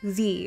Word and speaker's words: Z: to be to trish z or zed wherever you're from i'm from canada but alas i say z because it rhymes with the alphabet alphabet i just can't say zed sorry canada would be